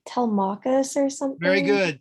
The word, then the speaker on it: Telemachus: It's like Telemachus or something. Very good. Telemachus.